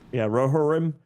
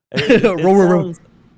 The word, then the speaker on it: Rohirrim: I'm mispronouncing this. December 13th. Rohirrim. Rohirrim.